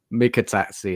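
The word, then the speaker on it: Mikautadze: I can't even pronounce that, Mark. Could you? Mikatadze, that's it.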